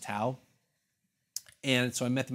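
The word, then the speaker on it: Tow: were up in their tau texas it's spelt toe t-o-w but it's pronounced tau and so i met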